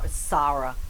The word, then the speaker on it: Sarah: Sarah. I don't even want to call her Sarah. I want to call her Sarah because it's pronounced Sara.